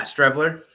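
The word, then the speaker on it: Streveler: Yeah, Matt Strevelier. Is that how you say it? Yeah, Strevler.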